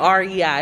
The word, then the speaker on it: REI: He said it's just REI. I'm like, REI Co-op? He was like, yeah. So that's how you say it, REI. It's just the initials.